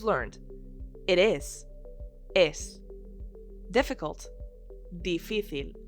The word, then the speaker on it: difícil: Difícil. With an accent on the middle I.